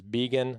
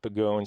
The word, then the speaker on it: Begoun: guest eliot begin i actually pronounced his last name wrong on the previous podcast i said bagoon it is vegan not bagoon so let's get that through everyone's head just